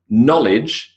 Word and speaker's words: knowledge: So knowledge, suppressed K, W, D, and E.